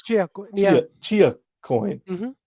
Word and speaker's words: Chia: It's Chia. It's Chia coin. Yeah. Chia coin. Mm-hmm. I don't know how to pronounce it. Like Chia Pet.